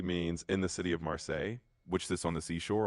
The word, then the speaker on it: Marseille: Marsi how do you say Marseille? It's in France, no? Yeah, exactly. It's Marseille in France.